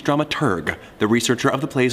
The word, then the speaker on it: dramaturg: no deal with it drama turd the correct pronunciation is dramaturg the researcher of the